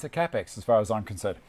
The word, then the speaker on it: Kapex: Australia call it a kapex the germans call it a cap X that's how the rules for pronouncing it are in Germany when in Germany did like the Germans do it's it's a capex as far as I'm